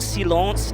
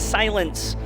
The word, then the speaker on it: Silence: asked the player himself is not Seance it's silence so there we go